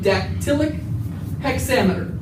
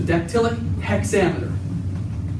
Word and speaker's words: dactylic hexameter: And it's written and performed in what's called dactylic hexameter. Dactylic hexameter. I'm going to spell that for you.